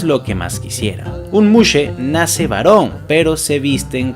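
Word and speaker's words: muxe: muxse por una x se pronuncia como si fuera una s y una h a estas personas se les suele considerar como un tercer sexo y esto es lo que más quisiera un Muse nace varón pero se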